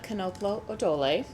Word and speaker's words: Knoplo Odole: I'm Knoplo Odole. The K is pronounced. All of the O's are long.